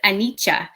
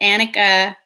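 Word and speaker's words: anicca: meditation so um silly the word is actually pronounced anicha but i decided that annika was going to be more um embraced by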